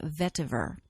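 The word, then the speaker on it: vetiver: does not have the T but it's always pronounced vver this is a incredibly grounding earthy oil this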